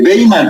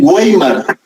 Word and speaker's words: Weimar: da en la de Weimar, pero se escribe Weimar, se escribe con W, ¿oyeron?